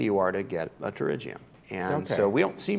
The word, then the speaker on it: pterygium: It's pronounced pterygium. The P is silent, like in pterodactyl.